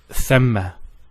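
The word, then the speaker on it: ثَمَّ: And there is a word which is spelt almost the same way as thumma, and it is thamma. So thamma, as we can see, is with a fatha.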